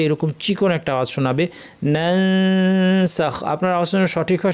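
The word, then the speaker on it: ننسخ: নানসাখ সঠিক উচ্চারণ হবে নানসাখ। নুনসিহা আমার দেশে অনেক সময় সহজ করে শেখানো হয় যে অনুস্বারের আওয়াজ, ফলে অনেকে নানসাখ পড়তে গিয়ে আপনারা হয়তো পড়েছেন ছোটোবেলায় নাং সাখ, নাং নাং নাং সাখ, নুং সিহা।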